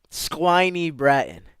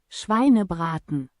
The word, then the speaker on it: Schweinebraten: Squiny Bratton. Squine Bratton. Squeeny Bratton. Right? Listen to how it's pronounced first.